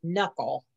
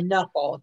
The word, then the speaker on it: knuckle: it's called it's pronounced knuckle like the k wasn't even there yeah it's it's like a knuckle you pronounce the end